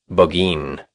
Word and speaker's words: Burgoyne: Nutting had a famous foxhound named Burgoyne. He pronounced it Boggeen.